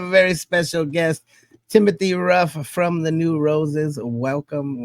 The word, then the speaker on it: Rough: today we have a very special guest Timothy Ruff from the new Roses Welcome welcome to the channel wow did I pronounce the name correctly it's ruff r yeah